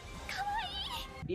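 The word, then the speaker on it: かわいい: Hawaii Hawaii Hawaii 離れたところに一人ぼっちかわいい இந்த word வந்து Japanese word. இவங்க இப்படிதான் ப்ரொனவுன்ஸ் பண்றாங்க. இதோட மீனிங் பாத்தீங்க அப்படின்னா கியூட் அப்படின்னு சொல்லி அர்த்தம்.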